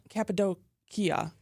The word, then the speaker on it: Cappadocia: I don't, but I know how to say Cappadocia. Yes. Cappadocia. They like the Cappadocia. Like the they like the Kia. Like the hard k.